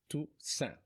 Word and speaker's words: Toussaint: or you Congolese, I'm from the DRC, it's Toussaint.